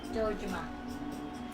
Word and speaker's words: Dojima: You got the last name right, though. Dojima.